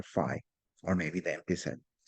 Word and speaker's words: phi: It's pronounced phi, P-H-I.